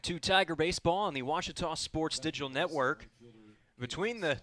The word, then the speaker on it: Ouachita: Tiger baseball on the Ouachita Sports digital Network I've heard people say oh a cheetah oh Wichita oh a cheetah is it pronounced oh Akita everybody pronounces it Wichita but really it's Ouachita Washington how would you pronounce